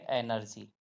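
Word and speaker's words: energy: ई आर जी वा तो जी के बाद वा आ रहा है तो इसको क्या पढ़ेंगे जी को ज पढ़ेंगे तो इसको पढ़ेंगे एनर्जी क्या पढ़ेंगे एनर्जी तो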